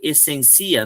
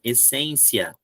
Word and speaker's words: essência: Eu vou pronunciar agora ciência, economia, academia, essencia, filosofia. Opa, tem duas que estão erradas a pronúncia. Então, a ciência é essa que é a tônica, então eu preciso colocar acento. Economia, ok, academia, ok, essencia, não, essência.